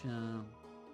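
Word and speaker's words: Seam: The name's Shawn, pronounced Shawn.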